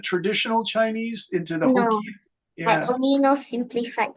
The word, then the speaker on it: Hokkien: And so they just felt comfortable speaking Hokkien, which is Hokkien, is it? H-O-K? Hokkien. Yeah, you Hokkien, yeah.